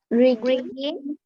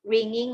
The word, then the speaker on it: rigging: Rigging. This is not ringing, okay, it's rigging, okay.